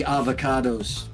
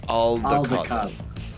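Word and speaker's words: Aldecaldo: I would like to speak to the avocados. Wait, that's not right. Avocados? How do you pronounce that? Aldecado. Okay. The avocados are the green fruit. Aldecado is the other nomad tribe.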